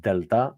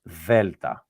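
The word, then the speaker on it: δέλτα: So that's why I said earlier that this is not delta, it's velta. Velta. Velta.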